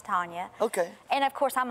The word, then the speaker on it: Tonja: j all right okay some people call me tanja but it's pronounced to tanya okay and of course